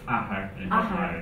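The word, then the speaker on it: athair: It's pronounced ahar.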